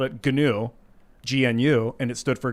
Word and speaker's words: GNU: He made a software based off of Unix and he called it GNU, GNU, and it stood for GNU's not Unix. Yeah. But GNU is the word new. It's an animal.